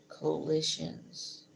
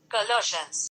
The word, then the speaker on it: Colossians: make it this way coalitions I usually say I'm so wrong go back Colossians Colossians the way they saying that I don't know collage Colossians Colossians yes Colossians um Colossians so